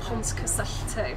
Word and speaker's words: Pontcysyllte: opinion me the correct way to say ponzu starts off nice and easy with piont it's pons and then after that it starts going into the welsh which is c-y-s-y-double-lte um so the double l you